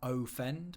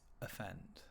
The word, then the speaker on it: offend: It's not offend, but it's offend. Okay, so that sound is called a schwa, that sound, offend.